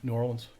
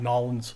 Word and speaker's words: New Orleans: Now, is that the proper way to say New Orleans? It is. It's not Nolans? It is not New Orleans. All right, so New Orleans. It is New Orleans, yep.